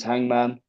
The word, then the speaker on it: H_ngm_n: The band name is Hangman. It's spelt without the A's. It's underscores instead of the A's.